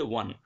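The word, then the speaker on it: won: আচ্ছা, এটাকে আমরা ওন বলি না, ওন, কিন্তু এটা ওন না, এটা হচ্ছে ওয়ান। ঠিক আছে, যেরকম ও এন ই এর উচ্চারণ হয় ওয়ান, সেম এই ডব্লিউ ও এন এর একই উচ্চারণ, ওয়ান।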